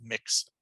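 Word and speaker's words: Mx: somebody who's non-binary is mixed and it's pronounced like the word mix there's the resources i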